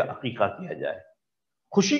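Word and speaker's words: عقيقة: लफ्ज आप जानते हैं, इसको अक्सर लोग गलत प्रोनाउंस करते हैं, हकीका बोल रहे होते हैं, ये लफ्ज हकीका नहीं है, अकीका है, ऐन के साथ है ये लफ्ज, हा के साथ नहीं है।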